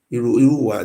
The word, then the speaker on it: Irowa: Irowa. It's Irowa. The white men don't know how to pronounce the name where they call it Irowa. If you speak Ishan language, you say Irowa.